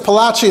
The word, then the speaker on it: Palachi: So, Rabbi Yosef Palachi, it's spelled with a gimel apostrophe, but the Sfardim in Spanish, when you had the ch sound, that's apparently what they used, the gimel apostrophe, to represent that sound.